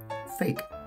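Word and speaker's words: PHEIC: jetzt haltet euch fest das ganze wird phonetisch folgendermaßen ausgesprochen Fake wer das nicht glauben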